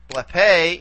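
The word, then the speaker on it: βλέπε: Blepe is, again, we go back as far as we can. In this case, we only have two syllables to play around with. And this one's going to be long anyway for purposes of accentuation. So here is where we put the accent for blepe.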